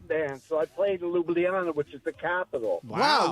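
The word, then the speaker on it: Ljubljana: Hometown please do it it's Luana Luana okay I've been saying Lu it's Luana I know you have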